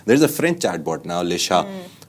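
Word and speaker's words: Le Chat: There's a French chatbot now, Lisha. So it's L-E chat, C-H-A-T, but they pronounce it Lisha.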